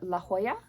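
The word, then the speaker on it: La Jolla: color is by la la Hoya it's spelled um j o l l a so that should be La Hoya and the color way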